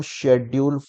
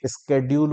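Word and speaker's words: schedule: अब बहुत सारे बच्चे इसे शेड्यूल ना बोल के स्केड्यूल बोलते होंगे, वो अपना अपना प्रोनाउंसिएशन है। अगर आप स्केड्यूल बोल रहे हो तो भी ठीक है, आज के टाइम पे उसे स्केड्यूल ही बोला जाता है, पर मैं उसे शेड्यूल बोलता हूं।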